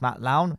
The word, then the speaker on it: Matt Lowne: My name is pronounced Matt Lowne.